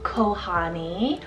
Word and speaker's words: Kohani: options that sound very similar so we have kohani or kawani so k-o-h-a-n-i or k-o-a-n-i both of